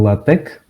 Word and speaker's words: LaTeX: Bom, olá malta, bem-vindos à palestra de LaTeX.